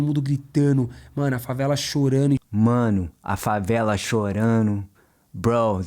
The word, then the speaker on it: chorando: Todo mundo gritando, mano, a favela chorando. Mano, a favela chorando. Bro, the favela crying. Same thing with chorando.